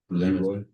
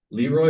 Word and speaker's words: Leroy: Leroy? Leroy or Leroy. Okay. Leroy's how I've been told it's pronounced.